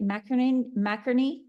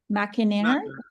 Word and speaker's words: McInerney: McInerney? No, McInerney. Just like Bert and Ernie, Mac and Ernie.